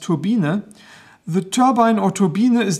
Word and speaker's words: Turbine: turbine by the way in German the name is pronounced turbina the turbine or turbina